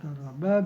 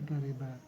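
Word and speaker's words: قرب: Nah, cara baca karoba ini dengan patah ra bi fathir ra'i wa kasriha, dengan mempatahkan atau dengan mengkasrahkan. Bisa karoba, bisa kariba.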